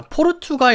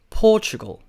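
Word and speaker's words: Portugal: 점거 같긴 한데 자 영어로 발음할 때는 이렇게 바랍니다 포주 고 포 주고 포 슈 또 약간 그런 느끼며 포주 9 4 약간 걸 도 아니고 글들 아닌 약간 걸과 글의 중간 같은 포 죽어 우 4 그래서 포투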